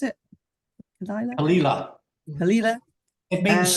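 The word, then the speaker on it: Caol Ila: However, I do seem to remember had Kalila, is that how you pronounce it? Kalila.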